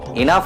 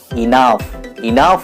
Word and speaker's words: enough: এনাফ ইজ এনাফ না, ওয়ার্ডটা এনাফ নয়, এর সঠিক উচ্চারণ হবে ইনাফ বলুন। ইনাফ ইজ ইনাফ। প্রুফ দরকার, তাই তো? Here is the proof. Enough.